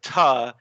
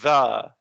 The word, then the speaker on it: the: And lots of Indians who are unfamiliar with English will say ta instead of the. And that's a pronunciation mistake.